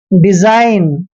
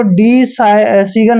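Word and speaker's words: design: हमने किया ही नहीं डिजाइन ठीक है ना कभी भी इसको डी सीगल नहीं पढ़ते हैं डिजाइन पढ़ते हैं जैसे आर ई एस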